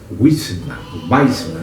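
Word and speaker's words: Wiseman: Tem um irmão que eu recomendo você ler, chamado Douglas Weisman. Se escreve W-I-S-E-Man, ou seja, homem sábio, Weisman.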